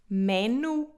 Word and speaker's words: menu: de forma diferente é menu. Menu. Menu. O nosso U não é como o U francês, por isso nós dizemos menu e não menu, como seria em francês e também noutras línguas.